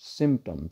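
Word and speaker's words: symptoms: और आपको सिम्टम्स study करने होते हैं, सिम्पटम्स, सिम्टम्स, सिम SYM, वो फ़ोन वाला सिम, SIM नहीं कह रहा, SYM, सिम, PTOMS, सिम्टम्स, P almost silent हो जाते हैं, सिम्टम्स।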